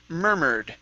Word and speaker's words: murmured: word here this is murmured so the u r and the e r would both be sorry you are in the u r will both be er sounds they'll sound exactly the same murmured mermaid mermaid very